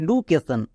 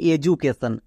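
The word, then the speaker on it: education: ভুল এর উচ্চারণ হবে এডুকেশন এখানে ডি এর জন্য ডো না ডি এর জন্য বর্গীয় যোগ হবে কেন কারণ এক্ষুনি দেখে আসলাম ডি এর দুপাশে যদি দুটো ভাওয়েল থাকে এবং মাঝখানে ডি থাকে তখন ডি এর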